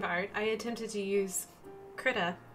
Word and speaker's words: Krita: Speaking of art, I attempted to use Krita. I don't know how to say this. We'll just say it's like Critter, but Krita.